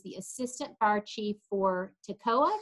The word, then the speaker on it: Toccoa: By the way, my nephew is the assistant fire chief for Toccoa. Did I pronounce that right? Yes, you did. Toccoa is correct.